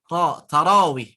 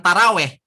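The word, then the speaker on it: تراويح: Tarawih, bukan taraweh, tapi tarawih.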